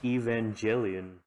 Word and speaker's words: Evangelion: I pronounced it Evangelion.